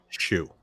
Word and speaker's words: Hsu: an interviewer it is it's hsu but it is pronounced shu so it's stephanie shu